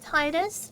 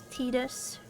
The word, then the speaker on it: Titus: Considering all English, it's spelled like Titus, but it's supposed to be said like Tetus.